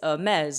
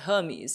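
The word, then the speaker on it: Hermès: of foreign luxury brands it's a mez not Hermes it's Javon she not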